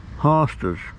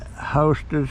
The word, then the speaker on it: hosta: you propagate these uh hostas i spell h-o-s-t-a i was pronouncing it hostess but lisa sent me things said it's hot hostas hosta um but all kind